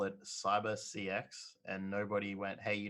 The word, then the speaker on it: Cyber CX: It was pretty like that's how big it was, but they decided to call it Cyber CX, and nobody went, hey, you know what? That's pronounced Cybersex, and now like as